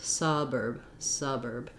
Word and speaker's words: suburb: The only difference is that this one is stressed, so we hold it for a longer time. This one is unstressed, so it's shorter. So urban versus suburb.